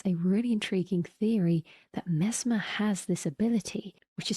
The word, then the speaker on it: Mesmer: As a side note, mesmer sounds like the word mesmerizing, the source of the word being from Franz Mesmer, a physician who used hypnosis to try and treat diseases.